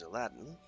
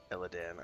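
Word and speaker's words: Elladan: And there's Aladdin. Eladan. I always forget how to pronounce his name. It's not Aladdin. We're not Prince of Persia here.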